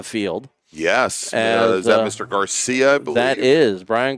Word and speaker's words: Garcia: Although we did have a challenger in GT1 today, but Garcia, and actually he said it's not pronounced Garcia, it's pronounced Garcia.